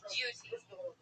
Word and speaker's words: duty: It is pronounced with a liquid U. Duty.